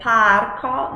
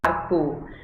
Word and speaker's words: parco: Mas sempre pronunciado aberto, né? Parco, não parco.